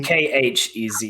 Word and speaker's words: Khezu: a penis into a monster and it's a Kezu, and there's no getting around it. I gotta look at this. Just a penis. How do you spell it? Kezu. No, it's Khezu.